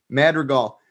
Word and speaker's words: Madrigal: How do you pronounce that name? Madrigal.